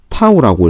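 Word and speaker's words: τ: 그렇기 때문에 회전에 영향을 주는 수직한 성분만 이제 영향을 미치기 때문에 토크의 크기는요, 이렇게 쓰는데 얘는 T가 아니고 타우라고 읽습니다.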